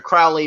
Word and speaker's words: Crowley: to hear you know I named myself Aleister Crowley because it rhymes with Holi right and it fits